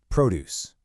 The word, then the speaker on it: produce: So, listen closely to how it sounds. Produce. You hear that? The emphasis, the stress, it lands right on that second syllable. That's the key.